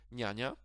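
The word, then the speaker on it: niania: But as I've mentioned, the letter N with this slash or S or C or Z, they never followed by a vowel. So in this case, the word for nanny, N-A, N-I-A, N-I-A, this is the exact word, N-I-A, not N-A.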